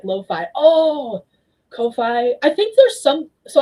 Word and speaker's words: Ko-fi: I went years thinking it was coffee and pronouncing it coffee, only for Ko-fi themselves to be like, no, actually it's pronounced this way years later.